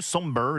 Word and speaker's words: Sombr: Ça s'écrit comme sombre mais sans le e. Somber donc il est né en 2005.